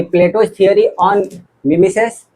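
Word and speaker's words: mimesis: Imitation के जगह पे पूछ देगा कि MESIS, इसको प्रोनाउंसिएशन कहेंगे मिमेसिस। क्या बोलेंगे? हाँ, मिमेसिस।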